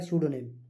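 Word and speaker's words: pseudonym: स्यूडोनेम इसकी जो है प्रोनाउंसिएशन होता है स्यूडोनेम।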